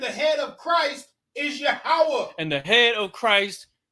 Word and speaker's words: Yahweh: there was only consonants y h w h and in its pronunciation in the lash is yahweh so when we refer